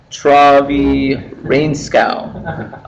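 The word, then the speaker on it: Trygve Reenskaug: So MVC was actually first described by this gentleman, Travi Rainskow. I looked that up. That's the correct pronunciation.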